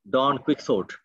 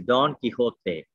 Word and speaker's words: Don Quixote: and he said that we have all heard that this is pronounced dawn quicksort uh now is this how the the the title is pronounced so uh i told him that the pronunciation of the novel in spanish is don quixote so he asked me